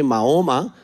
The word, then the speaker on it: Muhammad: are doing number one the name of the holy prophet is Muhammad of course you in Urdu you pronounce it Muhammad try to to work on this Muhammad in every language should be pronounced properly nicely even for example in Spanish they say maoma but we have to say Muhammad for example yes that